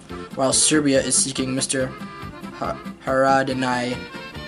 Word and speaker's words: Haradinaj: Haradinaj. It's spelled Haradinaj, and I think the J in like the Balkans are pronounced as kind of like a Y.